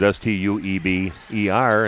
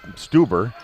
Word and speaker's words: Steber: if I'm not mistaken my daughter married a steber which is St EB e r and that's that one's always called stuber they mispronounce it but it's steber so he'll be grandsons